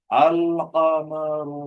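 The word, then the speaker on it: القمر: अल कमरू में लाम पढ़ा जा रहा है, लिखा भी जा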